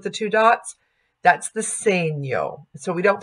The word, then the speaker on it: segno: little s with the two dots that's the same yo so we don't pronounce that segno we pronounced that same yo so Talia same